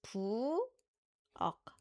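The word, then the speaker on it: 부엌: Boo eok. Boo eok. Yeah, it's it ends with key. So, which means you need to stop the sound abruptly.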